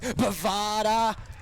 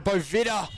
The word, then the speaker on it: Bovida: No mark taken by Humphrey, but here is Bovada. Or Bovida, I should say. If you'd have loved the wrong pronunciation, but Bovida.